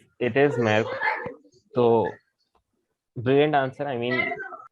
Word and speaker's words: Maersk: I don't know how to pronounce it. It's completely correct. It is Maersk.